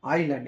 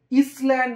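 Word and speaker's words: island: পেলাম ইংল্যান্ড কি একটা আইল্যান্ড এটাকে কেউ কিন্তু তোমরা ইসল্যান্ড উচ্চারণ করবে না এটা কিন্তু আইল্যান্ডের উচ্চারণ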